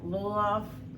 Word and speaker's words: lulav: you're supposed to have your lulav, is that how that's pronounced? Yeah.